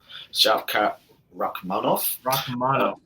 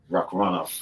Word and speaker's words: Shavkat Rakhmonov: Shavkat Rakhmonov. Rakhmonov.